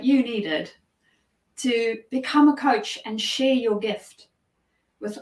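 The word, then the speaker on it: Kocs: a town in Hungary spelled differently but pronounced coach and they made the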